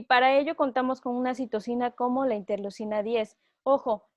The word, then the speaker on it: citocinas: citocinas aquí están vean dice citoquinas como español de españa pero bueno se dice citosina en español latino las citocinas tienen otra